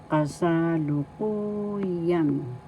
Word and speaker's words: kasalukuyan: The accent is in the fourth syllable. You pronounce this or because kasalukuyan.